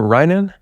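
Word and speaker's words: Reigen: Yeah, I mean, it's kind of very special because with Ryan, how do you pronounce his name? Reagan.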